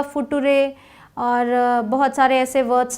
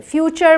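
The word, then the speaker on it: future: जोग भी सुना होगा फुटूरेक्स लोग बनाते हैं बट फ्यूचर बोलते हैं ना एफ यू टी यू आर ई फूटूरे नहीं बोलेंगे फ्यूचर बोलेंगे तो टी यू आर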